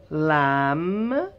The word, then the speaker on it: lamb: Lamb.